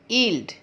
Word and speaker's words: yield: Today's word, आज का हमारा शब्द है ईल्ड। स्पेलिंग है YIELD। ईल्ड। ईल्ड के प्रोनाउंसिएशन में वाई की आवाज़ नहीं आती।